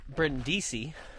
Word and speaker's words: Brindisi: So, for example, like the Varese affair, even though it's science fiction, Brindisi, where I used to live in the country of Italy, rhymes with Varese, and I based a lot of the locations off of real ones in Brindisi.